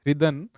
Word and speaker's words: Ridhan: That's sir, it's Ridhan with H silent.